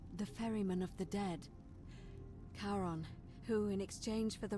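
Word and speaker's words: Charon: The name you heard wasn't Karen. It was C H A R. Aaron, of course. Kon, the fairyman of the dead. Karon, who in exchange for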